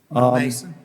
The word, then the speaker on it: Malmaison: extend it, I think that's Malmaison Road. Am I pronouncing that correctly? Mount Mason, Mount Mason? Mount Mason? Road. Mount Mason, that's in my area.